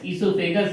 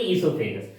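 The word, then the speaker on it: oesophagus: O-E-S-O-P-H-A-G-U-S, esophagus. Here O is silent. O esophagus नहीं बोलेंगे, esophagus.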